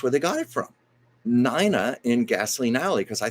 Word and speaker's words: Nina: 40s Gasoline Alley and they pronounced her name Nina and if you see the strip strip her name is spelled n i n a and my parents had